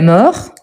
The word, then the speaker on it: mort: voyez qu'il la mort je ne prononce pas le T à la fin